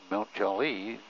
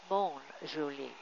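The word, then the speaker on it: Mont-Joli: little bit, because in Mount Joli, not many people speak English. I did notice that their pronunciation is a little bit different from ours. They say Mont Joli.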